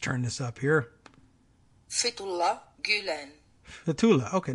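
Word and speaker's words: Gülen: Fethullah Gulen.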